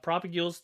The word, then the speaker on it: propagule: leaves if you want to grow the pop propagules down here and i'm probably butchering the name of that how do we spell it let's see mangrove i am propagul i